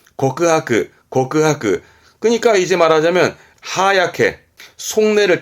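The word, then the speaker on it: 告白: 발음은 고크하크.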